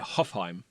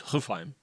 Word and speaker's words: Hofheim: Right, because I call it Hofheim. Right. But it's Hofheim. Oh, right. Because it's got umlauts or something, it's right? Hofheim. It's not Hofheim. Yeah. Hofheim. It's one syllable.